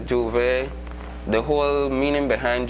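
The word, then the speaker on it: J'ouvert: Well, for me, I can say Juve the whole meaning behind Juve, the word Juve itself, first of all, it is spelled Jouvert, or it can be spelled Jouvay,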